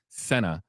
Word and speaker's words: Sena: course, the interview that he did with Sena, again, that's the correct pronunciation of the name, the aunt of little Charlotte Sena, you can find it, of course, on his channel.